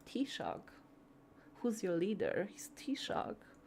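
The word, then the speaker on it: Taoiseach: Like T-Shock. Who's your leader? He's T-Shock. It's lovely. Um and and and it's spelled in an absolutely bastard crazy way, too.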